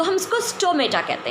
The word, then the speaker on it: stoma: हैं तो हम इसको स्टोमेटा कहते हैं. लेकिन अगर हम सिंगल इसको यूज़ करेंगे, सिंगल अगर स्टोमेटा की बात करेंगे तो हम इसको प्रोनाउंस करेंगे स्टोमा. That is स्टोमा, single, plural, स्टोमेटा.